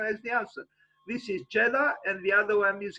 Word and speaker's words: Jeddah: Jeddah, without the H at the end. So Jeddah.